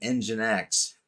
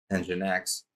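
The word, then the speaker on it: NGINX: Then we have engine X which is pronounced just like it sounds engine X plus load balancing and application delivery.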